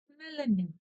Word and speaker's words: мәлімет: Буква «е» звучит точно так же, как она и пишется в алфавите. Мялемет. Помним о том, что как пишется, так и читается, и ничего у нас не искажается. Вот и все. Ударение на букве «е», соответственно, да.